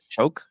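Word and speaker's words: Shough: Shoke pronounced like Shoke I think.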